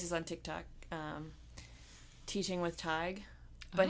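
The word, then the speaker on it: Tadhg: on TikTok, Teaching with Tig, but his name looks like Teaching with Tad, or Tad, whatever. Gosh. But it's Tadgh, I think. And it's pronounced what? Tig.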